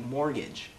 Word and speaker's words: mortgage: pronounce it was like mortgage why is there a tee in mortgage words like chain and